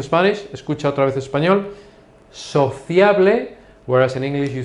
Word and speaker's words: sociable: Sociable. Sociable. Now, in this case, it is written exactly the same way, but the pronunciation is different. So, listen again to Spanish. Escucha otra vez español. Sociable, whereas in English you say sociable.